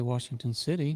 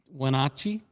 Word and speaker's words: Wenatchee: I can say Washington City. No, it's not a Washington City. It's Wenatchee? yeah. Wenatchee? I don't. Wenatchee. Wenatchee.